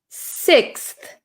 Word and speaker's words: sixth: We have an X and we have a TH.